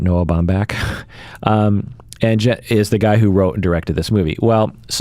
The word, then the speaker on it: Noah Baumbach: directed by Noah Baumbach, which is the same person who wrote and directed Marriage Story.